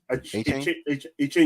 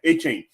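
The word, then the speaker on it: Achane: H-Chain? Yeah, H-Chain.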